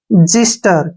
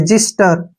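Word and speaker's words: xyster: यहां पर एग्जांपल है एक्स वाई एस टीई आर ठीक है ना इसको हम पढ़ेंगे जिस्टर क्या पढ़ेंगे ऐसे जिस्टर यहां पर ध्यान देखिए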